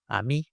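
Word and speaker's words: AMIE: little bit about uh Ammy Amy. How do you pronounce Ammy? Uh I think there's no consensus but let's go with Amy.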